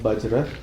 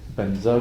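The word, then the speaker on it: वज्र: Well, I mean, like this, the way we chant it is more like proper Sanskrit, so to say. Om Ahom Bajra, Guru Padma Siddhi Hom.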